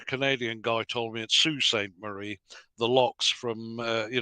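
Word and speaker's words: Sault Ste. Marie: how to say this a Canadian gentleman told me it's Sue Saint Marie or other but it seems to be spelled salt stain Marie so apologies to anybody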